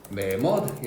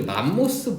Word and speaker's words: 매머드: 신생대 같은 경우에는 화폐석, 매머드 이런 친구들이 있고요. 그리고 이제 맘모스 vs 매머드인데요. 뭐가 맞는 표현 같습니까? 매머드. 자, 맘모스는요 일본식 발음입니다. 그래서 이제 알아두시면 좋고요.